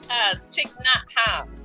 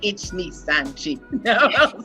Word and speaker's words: Thich Nhat Hanh: And I'm going to let Lady Bounce pronounce this name because I can never do it. Thich Nhat Hanh. See how dope she is. And I'm over here like Ichni Sanchi.